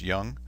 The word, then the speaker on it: Jung: called psychological types by Carl Gustav Jung pronounced young and there in addition